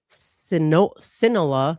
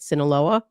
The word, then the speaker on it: Sinaloa: Um, and they say these pills are being mass- prodduced by the Sinola Solola, how do you say that? Saoa Sinaloa cartel, which is where he was in Mexico, right? Sinaloa.